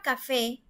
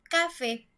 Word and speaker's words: café: En la palabra café, si nosotros pensamos que la sílaba tónica, es decir, donde recae más fuerte la palabra, está en la penúltima sílaba, nosotros diríamos café, café, ¿verdad? pero nosotros no decimos así. Nosotros decimos café, es decir, la última sílaba es la que se escucha mucho más fuerte, café.